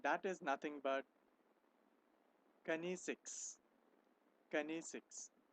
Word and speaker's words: kinesics: Kinesics. It's known as, it's pronounced as kinesics.